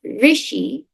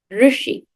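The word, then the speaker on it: ऋषि: It's not Rishi, it's Rushi. So if your name is Rushi, well, you have to practice saying your name.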